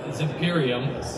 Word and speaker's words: Zimperium: this company is called zimperium which unlike the previous companies sounds exactly like it's spelled so this is Imperium